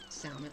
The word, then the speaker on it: salmon: the saky salmon you salmon I did it I just made a big speech about how you never pronounced that L and I still said